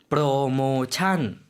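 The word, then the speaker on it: โปรโมชั่น: 프로모찬. 이것도 마찬가지로 프로모션. 우린 이렇게 발음하는데요. 태국분들은 프로모션. 맨 뒷부분이 다르죠.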